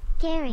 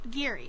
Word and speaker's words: Giri: to practice saying my name again except louder Gary my name giri say it again Miri where did you